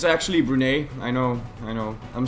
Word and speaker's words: Brunei: It's actually Brunei.